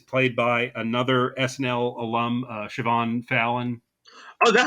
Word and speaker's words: Siobhan: uh Scottish name where it's spelled uh s i o b h n but it's it's pronounced Siobhan I mean I'm sure